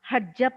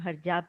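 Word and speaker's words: ਹਰਜਪ: Now I'll quickly move to Shri Aujla हरजप सर. Sorry, I pronounced your name हरजाप जी, क्योंकि मुझे लगा English में ऐसे ही मैंने पढ़ दिया, but I think sir it's हरजप Singh Aujla, right sir?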